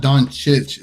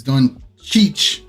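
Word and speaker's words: Dončić: Luca doing Cheech so the way you pronounce doncic it's not Don chich it's done Cheech is weird it's like Cheech and Chong like have you ever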